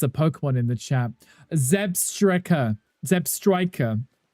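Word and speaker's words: Zebstrika: Zeb Striker. Zeb Striker. Angry told me off for this one time. The pronunciation of that Pokemon. I think I called it a Zebra Strike or something, didn't I?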